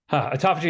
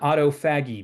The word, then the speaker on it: autophagy: I used to call it autofaggy because science words are hard to pronounce and phes.